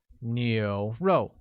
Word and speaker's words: 牛肉: Next we have beef, which translates as 牛肉, with a mid-rising tone on U, a falling tone on O, making it 牛肉.